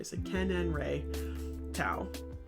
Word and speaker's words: Seqenenre Tao: Seqenenre Tao.